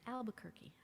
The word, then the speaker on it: Albuquerque: It's a word that rhymes with turkey.